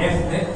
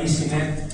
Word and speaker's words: EZNEC: por lo de EasyNet, EZ en inglés se lee como Easy. Entonces, casi todos hemos llamado a esto, muchos lo han llamado EZNet, que es una cosa muy difícil de pronunciar. Vamos a llamarle EasyNet, que es como intentar